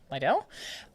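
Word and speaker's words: Lidl: Lidell. That's Lidell.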